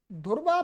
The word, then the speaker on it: ध्रुव: सही क्या ध्रुवा ध्रुवा ऐसे हिंदी में लोग जो ध्रुव है ध्रुव उसको ध्रुव बोलते हैं धुव क्या बोलते धुव तो यहां पर आपको